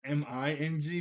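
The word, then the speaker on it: Meng: Is it I kept thinking it was Ming because it's spelled and while put the subtitles on it was m e n g. I thought it was Ming like m i n g but no, it's Ming.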